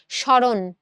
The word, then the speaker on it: স্মরণ: তো এই শব্দের শুরুতে যখন ম ফলা থাকে তখন আমরা সেই ম ফলাটাকে উচ্চারণ করি না। তাহলে শব্দের শুরুতে ম ফলা থাকলে কি হয় না? শব্দের শুরুর ওই ম ফলাটা উচ্চারণ হয় না।